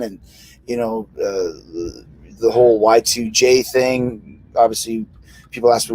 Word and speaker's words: Y2J: you know the whole y2j thing obviously people ask me what ytj came from what was supposed to be y2k jay rhymes with k there you go not